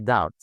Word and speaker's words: doubt: as a rule that every M followed by B the B is silent B for boy and every B followed by T the B is silent.